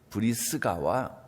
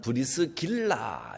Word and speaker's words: 브리스가: 우선 브리스가와 아굴라, 브리스가는 브리스길라 이렇게 발음하기도 하고 또 브리스가 그렇게 발음하기도 하는데, 이 두 사람은 브리스가와 아굴라는 부부입니다.